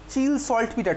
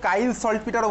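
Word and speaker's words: Chile saltpetre: Next তারপরে sodium nitrate NaNO3, চিল সল্ট পিটার, ঠিক আছে? এক এক জায়গায় এক এক রকমের প্রোনাউন্সিয়েশন, ওকে? কেউ কাইল সল্ট পিটারও বলে।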